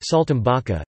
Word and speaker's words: saltimbocca: Saltimbocca, also Saltimbocca, pronounced Saltimbocca, Italian for jumps in the mouth, is an